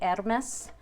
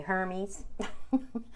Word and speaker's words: Hermes: deck because this is the ermess deck or as many americans say hermes it's one of robert